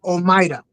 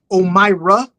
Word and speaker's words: Omaida: Okay, so the way you would say it is Omaida or Omira. I call her Maida. Okay. But she goes by, like, if you have a problem pronouncing, she's fine with Omira. She's fine with that.